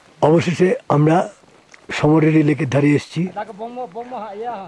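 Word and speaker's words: Tso Moriri: অবশেষে আমরা সমরের লেকের ধারে এসছি যার বানান টি দিয়ে শুরু এবং সুনামির মতন টি টা সাইলেন্ট দৈর্ঘ্য এবং প্রস্থ এখনো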